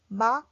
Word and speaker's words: 음악: So when we write, we write '음악', but when we read it, we have to read it as .